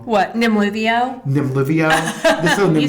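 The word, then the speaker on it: Nemluvio: Nimluvio.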